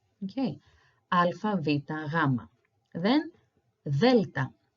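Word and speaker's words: γάμμα: You might have heard gamma as gamma, like gamma rays, as we say in astronomy, but again, it's the wrong pronunciation. So instead of using a G sound, like gamma, I suggest you use a W. It's closer to the R sound that we use in Greek. So gamma, gamma.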